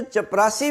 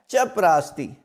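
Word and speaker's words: चपरास्ती: लफ्ज चपरा स्ती है यह जो चपरासी बोला जाता है यह गलत लाम है जो ऑफिस में होते हैं चपरासी जिनको पियन कहा जाता है तो दुरुस्त लफ्ज है चप राती असल में चप कहते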